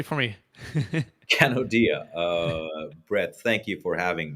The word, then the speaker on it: Kanodia: Can you pronounce that correctly for me? Kanodia.